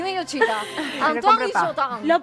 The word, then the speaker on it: Antoine Guillotin: Antoine Guillotin. Lo pronunciás muy bien.